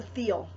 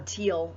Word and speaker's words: Thiel: It depends on which part of the world as to whether or not you pronounce the T-H as a hard T or as a, like we do here in the States.